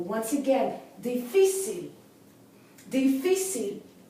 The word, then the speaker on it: difícil: Once again, difícil. Difícil. Here we have a three-syllable word, right? The accent should be on that C-I-L, the last syllable, but it's on the second syllable, fi.